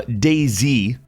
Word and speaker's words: DayZ: The next year, 2012, saw Dayz, which, yes, that is how you say it.